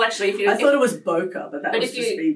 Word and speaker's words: bokeh: I had to Google to work out the pronunciation so it's called the Christmas bokeh okay Christmas poker Runner so Boca is um